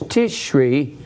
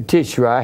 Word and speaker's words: Tishri: In the seventh month, that's Tishri, or Tishri, however you want to pronounce it, and that is also the Feast of In-Gathering.